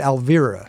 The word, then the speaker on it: Alvira: Alfeer. Alfir. Yeah. Alvir. Well, you pronounce the V properly as a Dutch person. Right. Proper Dutch V.